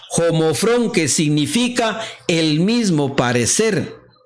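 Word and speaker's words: ὁμόφρων: Ahora la palabra que utiliza Pedro aquí es la palabra griega 3675 y se pronuncia homofrón, que significa el mismo parecer, de igual mentalidad,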